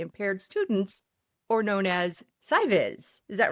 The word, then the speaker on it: SCIVIS: Joining us this time, Dan Oates, coordinator of Space Camp for Interested Visually Impaired Students, or known as SCIVIS. Is that right, Dan? That is correct, Susan. Good pronunciation.